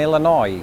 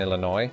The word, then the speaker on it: Illinois: Lewis is linguistically inconsistent with Illinois itself, just like the sentence, Lawrence Brown will never be a hit content creator. The S is silent in Illinois.